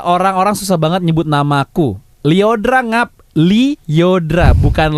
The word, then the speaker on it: Lyodra: Lyodra ngap Lyodra, bukan Leondra, apalagi Lyodora.